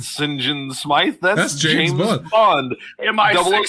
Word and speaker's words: St. John: Yeah, I wrote it down because the subtitles spell it out phonetically. SIN-JUN. St. John Smythe.